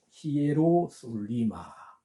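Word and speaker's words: Ἱεροσόλυμα: 보면 스트록 넘버 214번 요렇게 적혀 있습니다 요것을 발음을 히에로 히에로 솔리마 히에로 솔리마 아고 발음을 합니다 아 그리고 두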